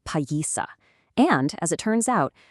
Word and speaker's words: Páyiihsaki: The word Piasa is just a settler's mispronunciation of the Illiniwek word Páyiihsaki.